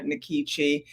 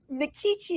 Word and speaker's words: Nkechi: in like Kuma and the E had the a sound and all that jazz and I try to pronounce it the way it would be pronounced if I were ebo in Nigeria but nikichi had just kind of